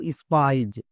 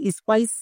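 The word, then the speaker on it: spies: যেমন একটি ওয়ার্ড দেখো স্পাইজ এখানে শব্দের শেষে এস আছে তাহলে এস এর জন্য দন্তস হবে তার মানে স্পাইস স্পাইস উচ্চারণ করলে একদম ভুল এর উচ্চারণ হবে স্পাইস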